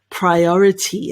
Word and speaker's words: priority: Priority. And the way to pronounce this is priority.